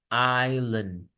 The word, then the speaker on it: island: Como pueden ver, no hay S. Aunque está escrita ahí, aquí en los fonemas no está. Entonces pronuncio island, island, island.